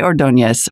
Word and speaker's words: Ordonez: mark next up on the program is ordonez founder and ceo of air pals welcome